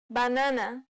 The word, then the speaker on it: banana: next vowel is comma banana this vowel sound is similar to the previous sound except that it's the closed variant of the a sound compared to the previous